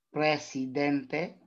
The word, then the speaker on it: presidente: Ito po ay mabilis. Mabilis sa binibigkas at walang impit na tunog.